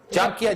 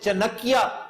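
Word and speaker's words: चाणक्य: चांकिया, जिसे चनकिया कहकर मिसप्रोनाउंस करते हैं लोग, चनकिया नहीं है, चांकिया कोतलिया।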